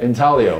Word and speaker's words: intaglio: we just have like five minutes where you pronounce that work Magglio in Talia intaglio just like tall people the type of printmaking